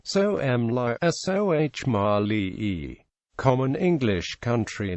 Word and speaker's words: Somalia: Pronunciation. Soh-Mali. Common English country name, Somalia. Official English country name, the Federal Republic of Somalia.